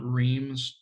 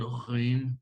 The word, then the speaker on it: Reims: Right, it's not Reims. Right, you have to pronounce it in the typical French when it's in the back of the throat, Rheims, like that.